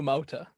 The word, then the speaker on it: Amauta: Would you like to maybe pronounce how your name is so I don't look silly? Yeah, it's Amauta.